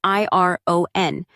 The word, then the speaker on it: iron: For example, the word iron is written I R O N. But we say iron. If you only read the word, you might say it wrong.